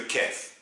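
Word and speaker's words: كاف: dernière lettre qu'on va faire aujourd'hui c'est le Kef et je j'insiste à la faire aujourd'hui pour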